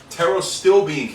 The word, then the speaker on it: pterostilbene: Another great form, pterostilbene caffeine. Pterostilbene spelled with a silent P in the beginning.